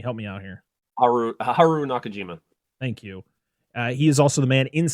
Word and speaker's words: Haru Nakajima: inside the rhan costume suit uh Haru can pronounce his name for me help me out here Haru Haru Nakajima thank you he is also the man inside